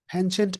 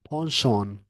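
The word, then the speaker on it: penchant: हेंचेंट इस वर्ड को बोलते हैं अमेरिकन इंग्लिश में, और ब्रिटिश में बोलते हैं पॉन्शॉन। अमेरिकन में बोलते हैं पेंचेंट, और ब्रिटिश में बोलते हैं पॉन्शॉन।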